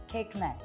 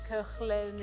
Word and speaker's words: Koechlin: So basically, it's Aaj ki nahi, kal ki chocolate cake la mere liye, and that's how you remember it. Yeah. Amazing. I know it's spelled totally differently, but that's the French language.